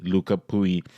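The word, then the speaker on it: Lucas Pouille: Nadal and Luca pooey they have finally gotten the Frenchman's pronunciation correctly luca pooey played a classic four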